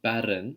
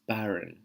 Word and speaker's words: barren: the R It's not barren. We don't roll our R's in RP. We create airflow when we move our tongue. The tongue doesn't touch the top of our mouth. It's barren.